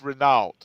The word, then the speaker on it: Renault: up actually get my email that it's it's Renault that's the way oh you know it oh